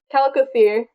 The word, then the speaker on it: Chalicothere: Ooh, I don't know if the CH is pronounced or not. If it is, it's Chalicothere. If it's not, it's Calicothere.